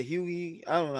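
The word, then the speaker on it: Hughie: there i'm seeing it it's huey how he his name is pronounced but i what we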